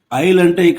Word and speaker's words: isle: 'isle' లో మనం 'S' ని పలకము, కాబట్టి 'S' అనేది మూగ అక్షరం.